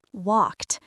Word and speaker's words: walked: Walked. The e d sounds like tu here.